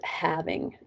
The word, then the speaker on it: halving: The ones that are super, super duper common are doubling and halving. Halving, I feel like I should pronounce the L more.